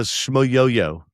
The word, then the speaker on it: Shmoyoho: Okay, so Shmoyoho. Shmoyoho. Shmoyoho. Excuse me about that. Yeah, okay. Yeah, accent on the yo.